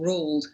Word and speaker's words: Roald: We all know Roald Dahl, or Roald as she calls him, which is a Norwegian pronunciation.